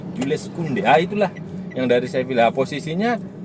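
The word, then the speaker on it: Jules Koundé: Itu bacanya Jules Kounde.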